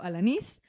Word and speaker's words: Alanís: Yo estoy en Instagram y Facebook como Alanís, con acento en la I, Alanís.